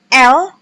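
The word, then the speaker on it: elles: Kemudian ada elle, sama seperti L-nya dia perempuan, S-nya tidak dibaca.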